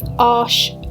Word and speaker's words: Arches: I'm using this loose leaf arche watercolour paper, or arches, but it's French, so it's pronounced arche.